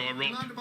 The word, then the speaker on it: Arop: Some of you listening to me will think, no, he pronounced his name Arop. He's been around for quite some time now. But I'm going to say Arop.